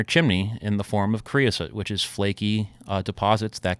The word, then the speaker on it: creosote: Let me see if I pronounce it correctly. Creosote. Creosote, yeah.